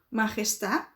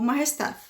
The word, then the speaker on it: majestad: No espanhol da Espanha, eles dão ainda uma pronunciadinha nesse D, se eles quiserem, tá? Existe gente que pronuncia e existe gente que não. Então, poderia ser dito majestad ou majestad.